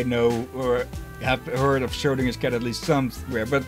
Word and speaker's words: Schrödinger: It's pronounced Schrödinger. Most people I hear just call it Schrödinger.